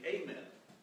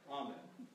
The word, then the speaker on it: Amen: They were also careful to say Amen, not Amen. Any Episcopalian who pronounced those words differently was not one of them.